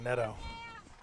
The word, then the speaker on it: Netto: nto yeah I know she has one of those names that everybody pronounces different I always remember it's like a basketball net she pronounced it like Netto lofs that one up